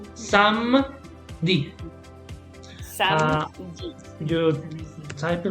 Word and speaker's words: samedi: So it's samedi. You type it like this. So let me show you. So even though you have here ni, you don't read this one. Okay, so it's samedi. 2 syllables.